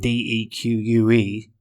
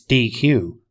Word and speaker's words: deque: Now it's spelled DEQUE, so you would think it's DQ, but it's actually called a deq.